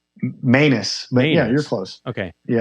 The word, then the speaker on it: Manous: But none of the DJs or, radio show hosts could pronounce my last name. So it's Manous, right? Manous.